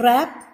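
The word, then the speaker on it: wrap: In a rap, W is silent.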